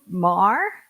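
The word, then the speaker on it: Meagher: okay I'm sorry Mar spelled m e a g h e r but pronounced Mar sounds like Chinese actually and lastly but not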